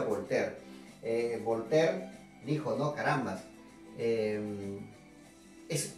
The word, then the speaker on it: Voltaire: Se escribe Voltaire, pero se pronuncia Voltaire.